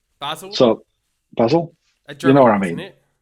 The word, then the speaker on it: Basel: pronunciation wrong robin basel ball how do you pronounce that basil so basil you know what i mean it's it sits